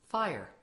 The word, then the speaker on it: FHIR: does fire stand for although it is spelled fhir it is pronounced as fire f stands for fast